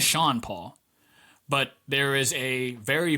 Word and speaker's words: Sean Paul: Part of the reason that he gained traction in the Caribbean is that the radio host pronounced his name Chandra Paul. It's not. His name is Sean Paul.